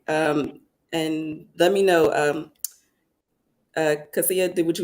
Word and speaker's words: Cassia: of Cassia, but with an A at the end. Cassia. Cassia, I Yeah.